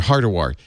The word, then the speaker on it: Hardawar: Also with us, Devindra Hardawar. You know, his name, it's just like it's spelled.